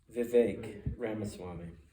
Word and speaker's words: Vivek Ramaswamy: But, how do you pronounce his name, Joe? Vivek Ramaswamy.